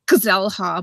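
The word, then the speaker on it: Xel-Há: It looks like Xel-Ha, but it's pronounced Xel-Ha.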